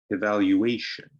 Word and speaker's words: evaluation: word evaluation evaluation so that's a five-syllable word and the fourth syllable is stressed so repeat after me evaluation okay now our last